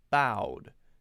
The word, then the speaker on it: Bo: So B-O, the word B-O, that's a name, someone's name. That's pronounced bow, same pronunciation.